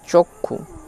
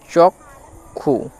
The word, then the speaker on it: চক্ষু: তারপরে দেখো চক্ষু লেখা আছে, চক্ষু, এটির অরিজিনাল উচ্চারণ যে ক আর মূর্ধন্য ষ এরকম আলাদা হবে না। তাহলে এক্ষেত্রে চ আর কয়ে মূর্ধন্য ষয়ে হস্যু এর উচ্চারণটা হবে চক্ষু, চক্ষু, চক্ষু।